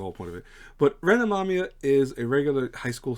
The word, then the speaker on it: Ren Amamiya: So it's Ren Amamiya, who they called the Joker in this.